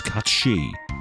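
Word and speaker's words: Cait Sith: it's cat she no I am not pronouncing it the way they say it is it's a Scottish name it's cat shei deal with it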